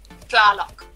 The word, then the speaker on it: Tlaloc: It's a T and an L put together. It's supposed to be pronounced at the same time. Tlaloc. So pretty much just like phlegm the entire... At the start, just Tlaloc.